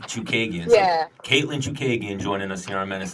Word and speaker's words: Chookagian: But Katlyn, how do you pronounce that name? Me and Dennis can never get it right. Chookagian. Chookagian. So I was really close, actually. I was way off. I was like, Chookagian.